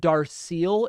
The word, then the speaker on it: Darceel: Is it Darceel in Texas? Is that the right pronunciation? Yeah, that's correct.